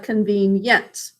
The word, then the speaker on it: convenient: i int four syllables first syllable is sounds basic code next syllable three sounds e says its name even though it's in a closed syllable but that's because it's in the base word convene then we add i which actually makes a yes sound in this word and last syllable three sounds that's basic code please pick up your